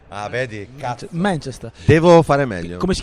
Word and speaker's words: Manchester: Anche lì, se tu metti l'accento sulla... Ma Esatto. va benissimo, è sempre più sulla prima. Manchester. Ah, vedi, cazzo. Manchester.